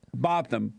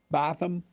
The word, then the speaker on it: Botham: I think that's how his brother pronounced it. Botham.